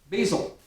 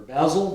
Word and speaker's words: basil: And a 1/2 teaspoon of, notice the theme here, 1/2 teaspoon, basil, or basil, depending on your preference of pronunciation.